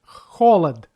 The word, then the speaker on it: холод: Last word, холод, has 2 syllables. First one is under stress, but second none. That means first o pronounced like o, and second one has sound a.